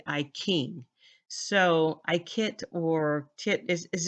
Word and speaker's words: I Ching: I noticed that um in China they pronounce words ch with k a k sound like I Ching is not iting it's actually I King so I kit or